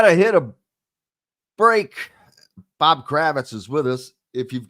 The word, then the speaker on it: Kravitz: Pronounced Kravitz pronounced Kravitz in most parts of the world.